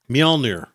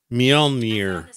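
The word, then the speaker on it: Mjölnir: How to pronounce that. Mjolnir. Mjolnir.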